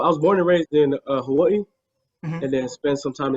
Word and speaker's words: Hawaii: called hawaii and it's how do you pronounce it actually hawaii i can't even i can't even do why it's a hawaii you gotta you know be strong with the vowels we're all about the vowels so how old were